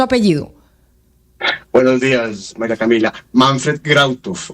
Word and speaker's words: Manfred Grautov: Claro, el apellido es de ascendencia alemana, Askenazi. Manfred Grautov.